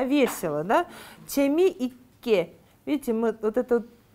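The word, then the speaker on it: 재미있게: Видите, мы вот это там, где у нас ит, да, двойной подслог, мы не произносим т, мы просто делаем смычку. Но вот так. Нет там т, да, просто чеми икке.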